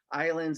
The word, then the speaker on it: islands: hear the u for islands the s is silent that's why it's hard